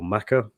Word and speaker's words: Mecca: is a little rusty is it pronounced Mecca or maca um is it I always assumed it was Mecca but is there a is there a different way of pronouncing that are both correct they're both correct okay interesting yeah and